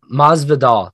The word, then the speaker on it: Masvidal: what's up man vidal no it's maz vidal there we go covington versus mazdal uh covington's coming into this fight with the 16-3 record uh maz vidal 35 and 15.